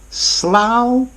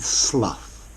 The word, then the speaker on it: Slough: soon bye for now Slough and Slough both pronunciations are valid